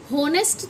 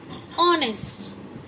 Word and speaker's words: honest: ये क्या हुआ, ये हुआ होनेस्ट। तो नहीं पढ़ेंगे ना इसे, क्या बोलेंगे इसको, ऑनेस्ट।